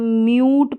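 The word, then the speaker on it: mute: यू रहेगा जैसे कि इसको हम म्यूट पढ़ेंगे मूट नहीं पढ़ेंगे क्योंकि यू है यू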